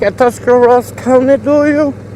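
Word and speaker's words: Tuscarawas: County you like a tusar Ross County do you some people say tusar rurus County but it's actually tusar Ros County and it doesn't matter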